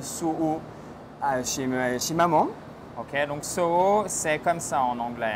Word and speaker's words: Soho: Ok, donc Soho, c'est comme ça en anglais. Hein? Exactement, Soho. Soho, ok. Voilà, n'oubliez pas le H. Voilà, faut bien prononcer le H, sinon ils ne comprennent pas.